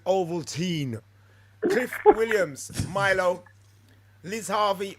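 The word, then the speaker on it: Ovaltine: medicine clementine valentine overtime i can see where countrymen say that but we pronounce it oval teen cliff williams milo liz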